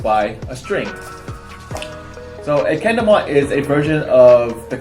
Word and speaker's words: kendama: your own stone cone kendama. So kendama translates to sword and ball, where ken means sword and tama, spelled with a T, means ball.